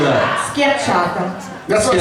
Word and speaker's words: schiacciata: Sciacchiata. No, how do you say that? Schiacciata.